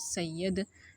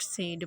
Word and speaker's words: Said: रखते हैं सैयद को तो हम इनको सैयद बिल्कुल भी नहीं कहेंगे हम इनको सेड के नाम से जानेंगे एडवर्ड सेड तो आज के बाद